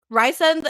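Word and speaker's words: Rhysand: so SJM, she said it's Ryzen, but I refuse. It's KO all over again. It's KO all over again. I won't do it. Wait, so huh? Rysend is the right pronunciation, but I call him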